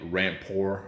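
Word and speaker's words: Rampur: Paul John and probably rampore or ramper it's a a r-a-m-p-u-r s-i-u spell it but uh ramper is how I pronounce it anyway amroot ramper and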